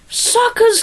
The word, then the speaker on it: Sokka: And he says, yeah, my name's Sokka. It's pronounced with an Okka. Get it right.